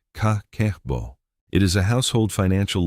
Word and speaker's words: kakeibo: Begin with the kakeibo, pronounced ka-ke-bo.